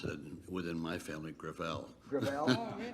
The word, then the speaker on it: Gravel: thank you uh Senator gravel with all due respect let me correct I pronounce it within my family grel grael it's a French name thank you uh I